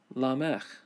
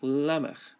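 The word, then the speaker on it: לֶמֶךְ: The pronunciation there is Lamech, Lamech. Here it's Lamech, which is his actual name, but in pause it's Lamech.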